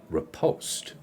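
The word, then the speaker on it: riposte: English Miriam Webster and Miriam Webster says it's repost so I'm going to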